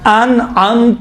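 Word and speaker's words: أنعمت: صراط الذین انعمت علیہم، دیکھیں یہاں امام فرماتے ہیں انعمت علیہم، ان میں حمزے ہیں، انعمت میں عین ہے. عین اور حمزے کا تلفظ میں باید فرق ہونا چاہیے.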